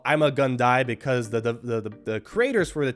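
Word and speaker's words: Ima-Gun Di: I learned that it's called I'm a Gundy because the creators for the TV show, they purposely made his name to reflect his fate, which was I'm gonna die.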